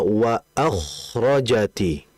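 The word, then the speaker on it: وَأَخْرَجَتْ: Sehingga yang pertama pastinya dalam membacanya yang betul adalah wa akhrojati. wa akrajati menipiskan huruf hamzah, menebalkan huruf k.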